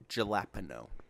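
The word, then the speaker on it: jalapeño: like I'm getting the jalapeno chips excuse me it's pronounced Jalapa no I'm buying sandwiches and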